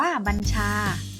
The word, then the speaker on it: บัญชา: คะ ตัว อย่าง คำ ผู้ บัญชา การ อ่าน ว่า บัญชา หมาย ถึง คำ สั่ง หรือ